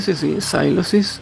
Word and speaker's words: Sylosis: ¿Se pronuncia así? Por supuesto, sí, Sylosis, que por cierto es una palabra que no